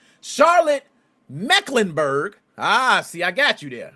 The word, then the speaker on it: Mecklenburg: Let me pronounce that right. Charlotte Mecklenburg.